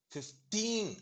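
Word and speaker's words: fifteen: 15 அப்படின்னா அந்த டீன்ல சொன்னா 15, முதல்ல சொன்னா 50 அப்படின்னு சொன்னா 50.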